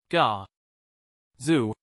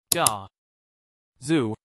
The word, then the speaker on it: Gaza: Ga. Zu. The stress is on the first syllable, ga. Repeat after me. Ga. Zu.